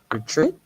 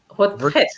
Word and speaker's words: retraite: And can you pronounce it again? Retreat? I said retreat. Retraite.